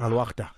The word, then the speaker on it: Al-Wahda: Coach, how do you say? Is it Al-Wahda? Al-Ahli? How do you say Al-Wahda. It? Al-Wahda.